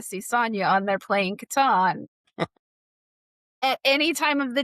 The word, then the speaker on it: Catan: And last year they celebrated Catan's 30th anniversary where I learned that it's Catan, not Catan, because it's how Klaus pronounced it.